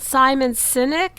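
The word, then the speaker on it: Simon Sinek: So, I'm guessing you really like is it Simon Synynic? Is that how you pronounce his name?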